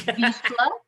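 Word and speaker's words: Vizsla: able to pronounce this, Visla, Copper Sky. Welcome to the program, Kristen. How are you? Thanks, Kent. I'm great. I'm great. And you almost got the dog breed right. It's Visla.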